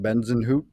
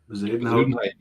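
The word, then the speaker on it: Bezuidenhout: I never know how to pronounce his name, Reggie. You always get it. Benzenhout or whatever. Zuidenhout.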